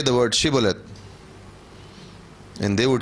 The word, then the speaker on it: Shibboleth: They were supposed to pronounce Shibboleth, but in Ephraim, if the word H would not be pronounced, right? So they would pronounce Sibboleth.